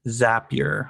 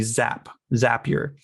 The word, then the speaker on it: Zapier: I fell in love with, and I recently learned how to say its name, Zapier. I always called it Zapier, but it's apparently Zapier.